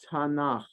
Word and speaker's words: Tanakh: one torahim kituvium creates an abbreviation that is pronounced Tana so in Hebrew the Jewish the Bible is called the Tanakh to represent the abbreviation for the three sections